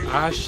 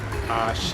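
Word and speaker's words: Àṣẹ: Now in the United States in particular, people will say Ashe and things like that, but note that the actual pronunciation is she, as in something similar to watershed or shed or shepherd, she, Ashe, and it comes from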